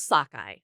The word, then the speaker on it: Szakaly: name go go ahead and say it it's pronounce Sockeye Sockeye yes it's easy to say if you're